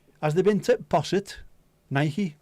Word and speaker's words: Nike: Nike is the correct way to pronounce it as well. On account of the fact that it's actually a goddess of something. Goddess of war, is it?